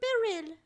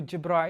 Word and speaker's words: Jibreel: Who's Angel Biril? Angel Jibreel. Oh, Jibreel. Sorry, I said it wrong.